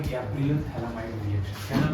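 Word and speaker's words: phthalimide: Gabriel थैलामाइड reaction. Gabriel थैलामाइड है कि थैलीमाइड? थैलीमाइड reaction, Gabriel थैलीमाइड reaction. अब Gabriel थैलामाइड reaction की क्या है सर? ये तो पीएच लिखा है सर, पीएच साइलेंट है।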